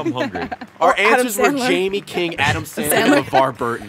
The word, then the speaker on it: Jaime: Our answers were Jamie King, Adam Sandler, LeVar Burton. All right, Ryan, get ready. Were you thinking Jamie Lannister too? What? No, dual I just meaning? Jamie. Yeah. Pronounce Jaime. Jaime. Jaime. King.